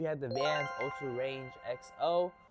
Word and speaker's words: EXO: And also at number two, we have the Vans Ultra Range XO. I believe that's how you say it, but it's spelled EXO.